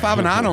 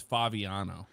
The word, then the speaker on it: Favignano: in the description but you always say my name wrong by the way what do I say the g you always pronounce it incorrectly yes fabinano it's faviano Fabiano I told you that Jeffrey yes you